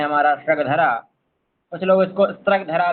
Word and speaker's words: स्रग्धरा: है ऐसा ठीक है इसलिए हम इसको सग धरा ही कहेंगे शग धरा यही सही उच्चारण है इसका तक धरा यह गलत है अब यह समृत छंद